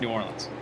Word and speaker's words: New Orleans: somewhere or what no no it's you don't pronounce it new New Orleans oh everyone knows that I do new or it's New Orleans Louisiana whatever whatever and and yeah uh the